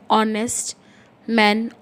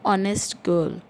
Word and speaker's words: honest: not honest that's why h is silent over there and the first letter that we hear is oh honest so it is